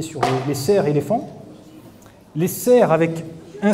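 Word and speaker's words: faon: Donc ça se prononce fan et ça s'écrit F-A-O-N.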